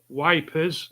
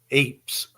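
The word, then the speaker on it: Ypres: we were right there wipers how' you spell how you pronounce that Ys apers ypf Eeps Eeps is a highlight and Hill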